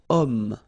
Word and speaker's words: homme: got this h letter, remember h is not pronounced, okay, so you've got the sound of o at the beginning of this word, okay, cet homme, so